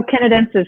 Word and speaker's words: Canadensis: I can never pronounce it. Canadensis. Oh, Canadensis.